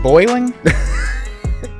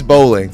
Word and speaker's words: Boling: Is it Boiling? It's not Boiling, is it? No, it's Boling. Bowling.